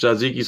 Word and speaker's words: tzatziki: cats does it have tzatziki sauce the cucumber sauce is how you say it in english zaziki's how you say it in greek is one of those